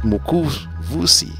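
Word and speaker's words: Mukuvisi: giraffe room in the mukuzi photos is pronounced as mokus vusi Woodlands it's an interesting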